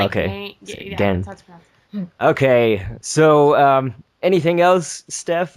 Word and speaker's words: Gen: It's kind of pronounced between like Gen and Gain. It's okay. Gen.